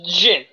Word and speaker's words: djinni: It's a gin. A gin. Or So no genie, tonic. as The the genie? yeah. It's spelled in the original spelling, not with the G, but with the DJINNI.